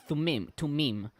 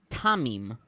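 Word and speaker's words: Thummim: th orim well uh generally it's tumim but here it's tamim so another uh the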